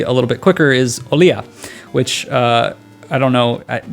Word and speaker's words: Olija: little bit quicker, is Olija, which I don't know. That's how you pronounce it, but I feel like for like English speaking people, most will say like Olija or Olija. Because, you know, pronunciations.